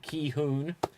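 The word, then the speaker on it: Gi-hun: four five six and it is uh pronounced key hung it would seem i did just check the pronunciation but it's felt as if i was saying but apparently it's pronounced uh ki hoon and that is the character so marty despite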